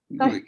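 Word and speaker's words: Ngũgĩ: If I may, Professor, it's Ngugi. I think I don't know if I pronounced it correctly. Good afternoon to you. And yeah, correct. Yeah, Ngugi.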